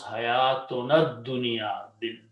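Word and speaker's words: حياتنا الدنيا: Okay, you combine with the dal, and then it will pronounce hayatunad dunya, the life, our life of this world.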